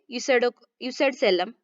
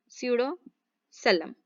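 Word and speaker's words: pseudocoelom: सो आपको ये प्रोनाउंसिएशन ध्यान में रखना है बच्चों, जो कि आपको एग्जाम में जो आप समझ रहे हैं कॉन्सेप्ट, उसको समझ में आने के लिए आपको हेल्प करेगा। या फिर आप उसको सूडोसेलमेट इस तरह से भी प्रोनाउंस कर सकते हो, स्यूडोसेलम, स्यूडोसेलम।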